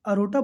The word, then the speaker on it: aorta: तो ये महा जो धमनी है इसको इंग्लिश में कहा जाता है अरोटा। ये अरोटा बोला जाता है लेकिन स्पेलिंग लिखी जाती है AORTA।